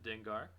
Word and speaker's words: Dengar: to 337 we got dinger or dengar it's probably more accurately how you pronounce it dengar really cool looking character